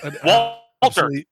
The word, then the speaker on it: Walther: which is Walter. I've got a Walter.